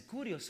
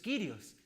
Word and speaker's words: Kyrios: Esa es la pronunciación, Kurios o Kyrios, que también tiene como significado el Señor.